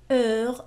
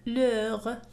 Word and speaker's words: heure: Heure avec la même chose، تنطق على نفس الشكل. l'heure. Heure, ça s'écrit comme ça, O-E-U-R. Ça donne le même son.